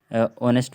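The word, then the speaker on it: honest: से पहले है नहीं एच ओ से पहले एच है इसलिए हम इसे ऑनेस्ट पढ़ रहे हैं है ना एच के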